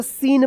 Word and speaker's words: scene: SCENE क्या पढ़ेंगे इसको, सीन पढ़ेंगे, स्किन मत पढ़िएगा, ठीक है ना।